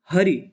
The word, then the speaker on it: हरि: सही नहीं बताते हैं यह स्वर छोटी ई जो है यानी हरि इसको पढ़ेंगे हरि और इसे पढ़ेंगे हरी अगर